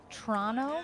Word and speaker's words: Toronto: little maybe Toronto action see Toronto Canadian friends that's how you say it you know that right the what tono tono yeah tono that's how you say it oh if you're from there oh okay all right